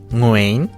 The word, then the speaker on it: Nguyễn: Nguyễn Có vẻ cái đó là đọc theo giọng miền Nam, còn theo giọng miền Bắc thì là Nguyễn nhưng mà tui hông phải